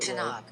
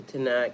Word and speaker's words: Tanakh: book of the 3rd section of that's not pronounced that Tanakh. The Tanakh, and called Ketuvim, and is part of the Old Testament.